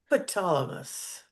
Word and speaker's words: Ptolemais: Ptolemais, Talamus. Yeah, the P is silent. Ptolemais.